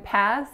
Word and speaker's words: pass: So in pass, it's just one syllable, and make sure that vowel is that tense a sound.